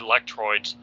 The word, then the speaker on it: Lectroids: starts addressing the red Lectroids, I don't even know if I'm pronouncing that right. That's right. Yeah, Lectroids is right.